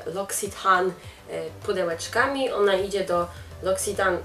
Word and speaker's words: L'Occitane: Więc musiałam to zgooglować i tą nazwę firmy czyta się L'Occitane. Więc L'Occitane przesyła Wam kopertę niezaklejoną, więc możecie potem jeszcze użyć.